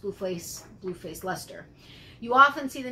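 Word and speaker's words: Leicester: bfl is blue face luster is how it is actually pronounced it's spelled l-e-i-c-e-s-t-e-r uh but it's actually pronounced luster from everything that i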